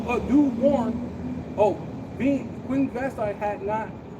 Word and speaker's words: Vashti: no, it's a, Vashti, yeah, Vashti. How you it's Vashti, the queen, had not done due warn. Oh, being Queen Vashti had not done wrong